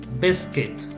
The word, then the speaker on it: biscuit: listen okay next one biscuit biscuit so the u is silent in this in this world okay a biscuit is